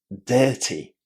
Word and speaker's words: dirty: When we've got I and R, and there is another consonant after that, we pronounce that I as a long air. So how would you say this word? Dirty.